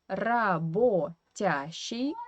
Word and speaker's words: работящий: And here I wanted to talk a little about Russian phonetics because we write работящий, but we pronounce this O in the middle as A, работящий, because this O is in unstressed weak position and it should be pronounced as A, работящий.